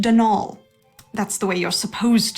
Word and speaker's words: Donal: the caretaker denal Delaney not Donald mind you there's no D at the end so it's pronounced denol that's the way you're